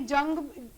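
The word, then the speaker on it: Jung: बट चलो ठीक है, यूंग से भी कर सकते हैं, इट्स ओके. सो सबसे पहला जो है, ये जंग भी लिखा हुआ होता है बुक्स में, और यूंग भी प्रोनाउंस करते हैं इनको.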